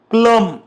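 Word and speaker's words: plumb: व्यक्ती त्याला म्हणायच नम प्लम प्लंबर प्ल यापासून बनतो ओके प्लम प्लंब क्रम बॉम महजे तुमही नोटीस केल असेल की या सर्वांमध्ये जो वर्ड आहे बी तो सायलेंट आहे आणखी काही वड आहे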